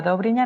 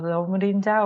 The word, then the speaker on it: Dobrinja: llama Doña Eh bueno tampoco se se pronuncia dobrina no no dobrinja o cualquier otra historia